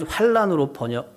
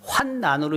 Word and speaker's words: 환난: 솔로몬의 일평생에 하닷이 끼친 환난 외에, 저는 이건 환난으로 발음을 하는데 우리 천세동 장로님이 저한테 문자를 보냈어요. 얼마 전에 보냈는데 이 한문으로 어쨌든 이 환난. 근데 환난으로 읽는 게 맞다는 겁니다.